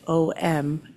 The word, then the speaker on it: om: And while my son was very confused when he saw me type om and that it was three syllables, that is how it's usually done in the chanting senses.